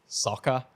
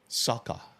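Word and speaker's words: Socha: But I think it's Sokha, like S-O-C-H-A. Sokha.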